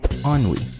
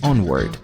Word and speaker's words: Ennui: Temos ainda a alegria tentando dizer o nome do tédio em inglês, que é Ennui, e acaba pronunciando como Onward, nome da animação Dois Irmãos da Pixar de 2020.